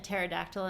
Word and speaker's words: pterodactyl: a pterodactyl in the bathroom? I'm afraid to ask. You can't because the P is silent.